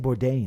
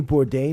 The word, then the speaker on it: Bourdain: Bourdain.